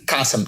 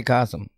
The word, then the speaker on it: 가슴: Oh, 가슴. Kasam. Now, how do you? Kasem, now don't say Kasem.